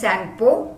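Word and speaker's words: Tsangpo: It's known as Sangpo. T is silent.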